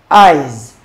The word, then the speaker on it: eyes: number 42 now eyes eyes the S there is pronounced Z is pronounced Z eyes eyes Soul Boys sell